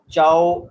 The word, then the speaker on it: zhao: इसी तरीके से यहाँ भी ऐसे नहीं करना, यहाँ ये लफ्ज बनेगा ZHAO, चाओ, यानी चे की साउंड, चाओ, बोले जरा, चाओ चाओ।